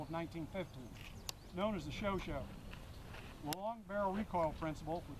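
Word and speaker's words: Chauchat: automatic rifle which originally they were issued with show shot which is the correct pronunciation I'm told automatic rifle model of 1950s known as the show show long barrel recoil principle which is one of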